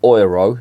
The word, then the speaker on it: Euro: I should say or one oil as the Germans pronounce it